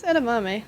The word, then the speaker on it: edamame: I may have butchered that. No, it's edamame.